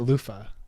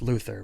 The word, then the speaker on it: Luther: Is it Luther or is it Lufa? It's Luther, but okay. That's how they say it. Lufa. Like the thing you use in the shower.